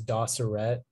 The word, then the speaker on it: doceret: the information please yeah the only pronunciation is doceret it's a noun and